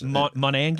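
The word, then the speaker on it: Monangai: Yeah, Monagai. Is that how he pronounces it? Kyle is his first name. Yes. Monangi.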